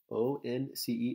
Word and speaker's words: once: So for 11, we have once, O-N-C-E, once. It looks like once in English, but it's pronounced once.